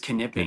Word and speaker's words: Knipping: I have been pronouncing your name Knipping. Is that right, or is the K silent? You are right. It is Knipping. It's Knipping. German. The name's German, yeah. Most people say Nipping, but no, it's in fact German, yeah.